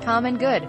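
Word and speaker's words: CMNGD: Calgary they talked to CM and GD pronounced common good linens which also hires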